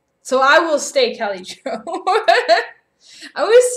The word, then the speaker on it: Kelly-Jo: No, it's Kelly. Kelly-Jo. Sai almost got it. So it's with a Y. And there's no E on the end of Joe.